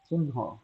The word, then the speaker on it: চিহ্ন: চিহ্ন এটা চিহ্ন এই যে হ নাই হ কিন্তু হাওয়া হয়ে গেছে হওয়া হয়ে গেছে ন কয়বার উচ্চারণ হলো দুবার উচ্চারণ হইলো কিন্তু মনে রাখতে হবে দুবার উচ্চারণ করলেই হবে না ন কে প্রথমবার অল্প প্রাণে উচ্চারণ করতে হবে পরের ার ন কে মহাপ্রাণে উচ্চারণ করতে হবে।